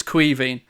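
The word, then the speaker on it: Caoimhín: lot of people wonder how you pronounces for its name its Queen Queen Kelleher and which is Irish for Kevin by the way in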